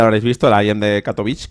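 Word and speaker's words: Katowice: habéis visto el de catovic catovic catovic Como cada uno lo dice una manera yo katovice lo podemos decir así pronunciado y Bueno la verdad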